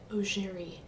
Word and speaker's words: Augeri: Kinda sounds like a Z, doesn't it? C-H? Ger. E. Yes. I have it typed out now, and phonetically it's Z-H-E-R-E-E. Augeri.